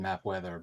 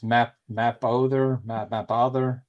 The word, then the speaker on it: Mapother: Well, I guess actually it's Thomas Mapother, but I said Mapweather, but it's... Oh, that changes my answer now. I don't know how to pronounce it. It's Mapother.